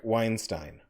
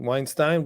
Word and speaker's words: Weinstein: that i like and respect about eric weinstein it bothers me that he has some of